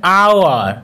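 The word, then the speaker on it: hour: লেটারটির উচ্চারণ করা হচ্ছে, কিন্তু যদি ওই এইচ লেটারটির উচ্চারণ সাইলেন্ট থাকে, অর্থাৎ ওই এইচ লেটারটির উচ্চারণ যদি না করা হয়, তখন কিন্তু সেক্ষেত্রে এ না বসে অ্যান বসবে, যেমন অ্যান আওয়ার, an honest man.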